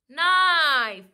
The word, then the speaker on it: knife: will read as i knife we will write k but we will not say the sound okay spelling is k n i f e knife k and e